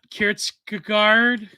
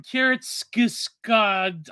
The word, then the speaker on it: Kierkegaard: me that Kierkegaard, I can't pronounce that stupid Scandinavian name.